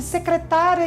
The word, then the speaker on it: secretária: das palavras são diferentes é o caso por exemplo de secretária e secretaria então secretária pessoas secretaria o lugar ou sabia sabiá sabiá